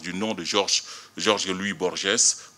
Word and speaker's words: Borges: nom de Georges Louis Borges, prononcé Borges, la dernière syllabe n'étant plus ici accentuée.